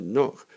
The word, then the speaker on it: knock: would say though is just remember to use the silent k for the verb to knock hey we don't get